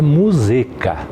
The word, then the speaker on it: Muzeka: Na verdade, a pronúncia é Muzeca, mas conhecido por todos como Muzeca, e assim até eu mesmo adotei como Muzeca.